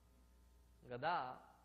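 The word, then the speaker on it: गदा: If the becomes dha, then the entire meaning gets changed. Gadha means a donkey. Gada, when the da is not with that emphasis, then it is a mace.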